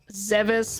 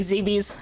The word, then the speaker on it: Zebes: i do i die official pronunciation zevis but i say it rhyming with bbs so like zb's okay well yeah i